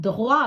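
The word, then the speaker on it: toit: அதாவது கோசோன் வந்தால் அவை உச்சரிக்கப்பட மாட்டாது ஆனால் விதிவிலக்காக உச்சரிக்கப்படும் எடுத்துக்காட்டுக்கு நான் போன வகுப்புல துஹ்வா சொன்னான் தே ஏ ஓ ஈ தே துஹ்வா இங்க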